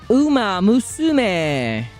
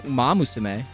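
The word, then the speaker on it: Uma Musume: Umaam Musume. You know, people give me a lot of for saying it wrong, but I'm pretty sure I say it correctly. Better than Umamus.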